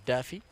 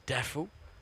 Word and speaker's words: Duffy: The American pronunciation is Daffy. Otherwise, it's Daffu.